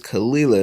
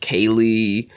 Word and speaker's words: Kalila: Like it's you say it how it's spelled, like, you know what I mean, a bit, but people will still butcher that bad boy. Like your name's Kalila and they'll call her